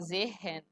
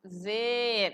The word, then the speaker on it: sehen: a pronúncia, por exemplo, pronúncia de sehen, todo mundo gosta de falar sehen, falando esse H, e aí a pronúncia vai te ensinar que esse H é mudo, você vai falar sehen.